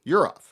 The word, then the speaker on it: Yurov: Yurov, yes. I was going to say, is that the correct pronunciation?